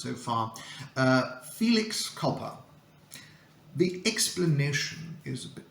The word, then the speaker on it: felix culpa: I think this is the easiest one to pronounce so far uh Felix copper the explanation is a bit tricky the literal